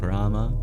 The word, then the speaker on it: Rama: Instead of Rama, you have Ram.